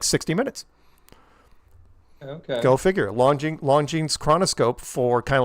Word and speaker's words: Longines: But it's Longines. It's like, okay, so that's fine.